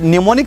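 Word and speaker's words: mnemonic: क्या होता है दोस्तों इस निमोनिक साइंस के अंदर एम साइलेंट है जैसे ये वर्ड अटपटा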